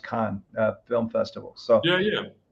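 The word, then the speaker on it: Cannes: uh it's spelled cnes like canes but it's pronounced Khan film festival so yeah yeah that's where I'm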